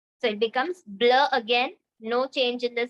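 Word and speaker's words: bleu: color comes is the blue which is pronounced as blur BL BL now for the feminine it will be b l e u e it will take an an extra e at the end to make it feminine blur the pronunciation Remains the Same Again now for making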